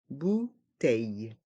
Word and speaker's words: bouteille: Une bouteille d'eau minérale. Une bouteille d'eau minérale. Le O et le U font le son OU.